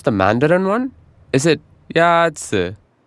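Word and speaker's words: 鸭子: Is it Yazi? Yazi is pronounced with a first tone. In Mandarin, there are four tones, which are essential to distinguish the meaning of words. The first tone is a high-level tone.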